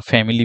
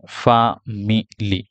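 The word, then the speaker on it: family: হ্যাঁ এটা আমি দেখিয়েছিলাম অনেকে আমরা ফ্যামিলি বলি ফ্যামিলি ফ্যামিলি আসলে ইংলিশ স্পিক স্পোকেনের বেলায় ফ্যামিলিটা হবে না এটা কারেক্ট প্রোনাউন্সিয়েশন না এটার সঠিক প্রোনাউন্সিয়েশনটা হচ্ছে ফামিলি ফামিলি ফামিলি ফা সরি ফামিলি ফা মিলি ফা দেখেন শেষে এই সাউন্ডটা আছে ফামিলি তাহলে ফামিলি এটা ফা হয় না ফামিলি ফামিলি তাহলে ফামিলি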